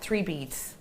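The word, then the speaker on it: 3BDS: So you describe it, you say it like 3 beads.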